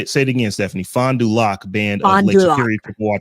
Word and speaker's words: Fond du Lac: And just as a point of clarification, Wayne said he thinks it's pronounced Fond du Lac, the name of the tribe. I was struggling with that. Fond du Lac band. Fond du Lac, yeah.